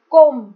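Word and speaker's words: comb: कोम, यहाँ पे भी बी साइलेंट है।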